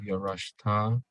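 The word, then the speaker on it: ירשת: Then we have Yarashta, Yarashta. Yarashta. Accent on the resh.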